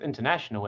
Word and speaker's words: international: it present present here with international it it's on the n a suitable listen to the ah syllable and a slightly higher pitch international international so it's